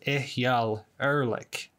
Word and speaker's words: Eyal Erlich: Hi there, my name is Post-Production Logan, and in the original cut of this review, I mispronounced this guy's name. Apparently, I have been told it's Eyal Erlich.